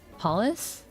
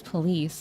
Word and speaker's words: police: Uh, and I was mispronouncing or putting the wrong intonation on the word police. Um, I think I was saying polace instead and they're like, "No, it's police."